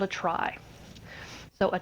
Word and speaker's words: trie: of something called a try so a try is spelled TR ie and it's actually from retrieval but sadly it's still pronounced try just to confuse you